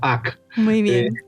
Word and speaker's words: HAC: Bueno, depende de que sea inglés o español que pronuncia pronuncia hack o HC.